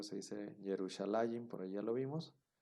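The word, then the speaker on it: ירושלים: Que se escribe o se dice Yerushalayim, por ahí ya lo vimos.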